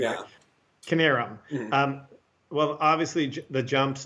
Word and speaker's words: Knierim: For them, the Kiernams, I pronounced the name correctly. Yeah. Knierim.